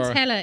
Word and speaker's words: Chiwetel: Chiwetel is how you pronounce the other name.